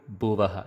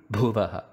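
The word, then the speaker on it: भुवः: So it should not be Bhur Bhuvaha. It should be Bhur Bhuvaha. Bhargo and not Bhargo. Dhimahi, not Dhimahi. Dhiyo, not Dhiyo.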